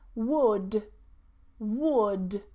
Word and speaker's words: would: Would, would.